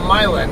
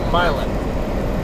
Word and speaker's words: Milan: locals there call it mil and like I'm not going to call it m that town was named after the city in Italy and the city in Italy is pronounced Milan not milin actually the Itali call